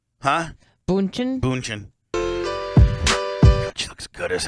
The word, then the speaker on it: Bündchen: Bündchen.